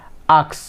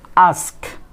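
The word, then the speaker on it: ask: অনেকে কি বলে থাকে আক্স, আক্স, বাট it will be আস্ক, S will be the first, আস্ক, আস্ক, নট আক্স।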